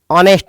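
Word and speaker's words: honest: देखो सेंटेंस में यह होनेस्ट है और होनेस्ट मैन के में ओ एच आपका साइलेंट है। तो आप बोलेंगे इसको ऑनेस्ट मैन।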